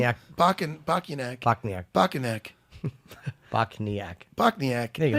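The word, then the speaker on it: Bochniak: But this Kyle, how do you pronounce his last name? Bokniak.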